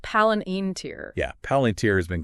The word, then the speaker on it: Palantir: right so get this paler pronounced palen iner yeah paler has been